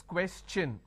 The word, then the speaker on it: question: When I have the word question, the tion becomes ch, n. So it becomes question.